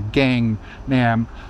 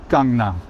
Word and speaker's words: Gangnam: the A sound, the gang, nam. It's never going to be A, nam. Yeah, it's Gangnam. Yeah. So, simple thing to keep in mind when you see the A.